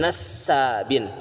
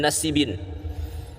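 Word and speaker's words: النسابين: Bukan minhajun nasabin asinya itu bertasdid. Bahkan di awal-awal video sangat lucu sekali beliau membacanya dengan minhajun nasibin. Minhajun nasibin. Bukan nasibin, bukan nasabin, tapi nasabin asinnya itu bertasydid.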